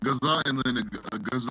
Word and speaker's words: ഗസ: ഞാൻ ഗസ തന്നെയാണ് ഇവിടെ എല്ലാവരും പറയുന്നത്.